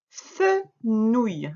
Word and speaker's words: fenouil: Attention pour le lire, tu t'arrêtes bien au E. Hein, ce qui est en rouge, c'est le son ouille d'aujourd'hui, mais ça ne décompose pas le mot en syllabes. Hein. Le N, tu te souviens, est un copain lâcheur, il s'en va avec la voyelle derrière.